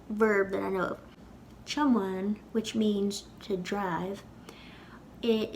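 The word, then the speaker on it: tiomáin: It's two syllables with a fada in the second syllable.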